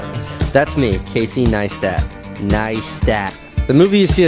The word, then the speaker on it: Neistat: It's pronounced Neistat.